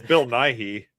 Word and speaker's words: Bill Nye: Bill Nye.